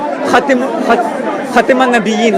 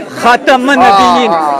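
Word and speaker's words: خاتم النبيين: Do not pronounce the kasra, but say Khatam an-Nabiyyin with the fatha So on the now, K.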